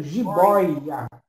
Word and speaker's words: jiboia: Então, quando você pronuncia, por exemplo, jiboia, né, jiboia, você tem que abrir bem a boca para que o timbre, né, ele tenha a sua sonorização característica de ditongo aberto.